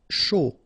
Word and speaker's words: chaud: Chaud. Final D not pronounced, and then when you combine this C and H, you get the sh sound. A and U, O.